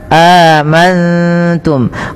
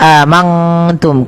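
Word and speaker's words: آمنتم: Cara membacanya, nunnya samarkan kepada huruf ta. Amantum, bukan hanya amangtum. Kalau mangtum maka dia berubah daripada makhrajnya. Kemudian mim mati bertemu ba, ini ditahan teman-teman, suaranya ditahan.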